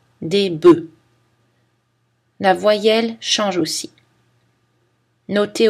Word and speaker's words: bœufs: Attention à la prononciation des mots œuf et bœuf qui changent au pluriel. Un œuf, un bœuf, on prononce le F, mais au pluriel, on ne le prononce plus.